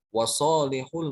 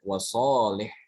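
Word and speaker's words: وصالح: Wasalihul mu'minin. Ini juga dibacanya wasalih. Bukan wasalihu, tapi wasalih. Karena wawunya dihapus.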